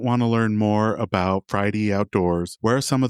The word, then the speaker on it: Fridie: We're @ Friday Outdoors. And then our website is Friday Outdoors. It's spelled F R I D I E Outdoors.